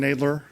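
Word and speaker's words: Knadler: your name again nler so that's spelled knna a d and David L E R thank you uh I forgot to silent k that's okay go ahead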